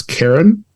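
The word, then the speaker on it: Charon: like how do you pronounce c-h-a-r-o-n and it's it's Karen Carriage so yeah I want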